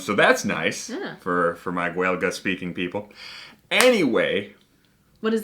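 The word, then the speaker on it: Gaeilge: The Irish say Gaelga or Gaelic.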